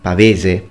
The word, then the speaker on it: pavese: Pavis, or as you actually pronounce it in Italian, pavese.